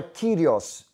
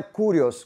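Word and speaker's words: κύριος: A palavra kyrios, e não é kurios, como algumas pessoas pronunciam, uma vez que não existe a letra U na língua grega.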